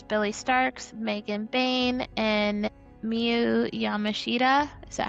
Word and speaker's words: Miyu Yamashita: And then we had Marcus Mather and YDNP versus Billy Starks, Megan Bain, and Miyu Yamashita.